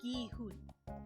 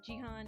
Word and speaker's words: Gi-hun: So a G is G, like ka, ka, ga. You know, gi, gi, gi, gi-hun, gi-hun. Anyway. The most common pronunciations I hear are Jihan and Gaihan.